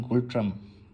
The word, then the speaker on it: Ngultrum: এবং রানী দেখতেই পাচ্ছেন টাকার নাম হচ্ছে গোল্ড ট্রাম্প এখানে এন কিন্তু silent so ওয়ান গোল্ড ট্রাম্প এই ছিল ভিডিও নোটটা